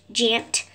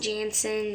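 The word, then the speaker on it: Jantzyn: And it's said exactly how it's spelled. It's spelled J-A-N-T-Z-Y-N, which Jantzen. It's not Jansen or something. It's spelled with Z's.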